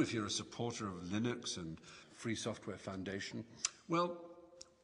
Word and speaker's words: Linux: name likeness it was named as Linux or Linux or some people pronounce it and Linux is the kernel that runs within Ganu and